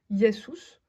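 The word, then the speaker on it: Ἰησοῦς: comme celui-ci yesous donc le Omicron et le upsilon se prononce ou comme en français yous et celui-ci ça signifie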